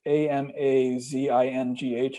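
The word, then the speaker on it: Amazigh: So it's spelled differently, but it's Amazingh, I believe.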